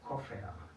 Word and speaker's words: Koffer: Y en el final de una sílaba o de una palabra, ¿saben qué es una sílaba, no? Okay. En el final de una sílaba o una palabra suena más como una A.